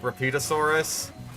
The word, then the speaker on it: Rapetosaurus: Apparently people, like, annoying people on TikTok have found out that there is another sauropod called, like, Repeatosaurus, which is spelled like Rapetosaurus.